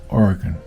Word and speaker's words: Oregon: in Oregon or as I'm told the correct pronunciation Oregon Oregon I have always said it wrong all